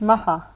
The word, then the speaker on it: Maha: I think you know, I want to pronounce the name correctly, Nicola. Maha, is it Bali? Yes, but it's Maha, like quick.